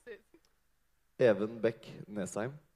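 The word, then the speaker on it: Næsheim: So first of all, I think most of us are wondering, it's Evan Beck Nesheim, or how do you even pronounce it? Evan Beck Nesheim. Nesheim.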